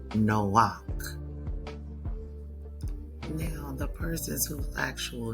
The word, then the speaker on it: Noach: So the the Noah that is mentioned in Genesis is actually pronounced Noak.